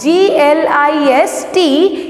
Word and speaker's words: glistened: Here T is silent. G-L-I-S-T-E-N-E-D.